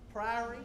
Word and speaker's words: Priory: First game is against, I always get this name wrong. Is it Priory? Priory.